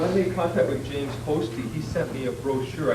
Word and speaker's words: Hosty: But yeah, by the way, it is pronounced Hosty. I used to call it Hosty.